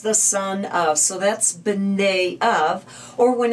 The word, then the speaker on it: Bnei: Bnei. So the B is just kind of a real quick and short Bnei.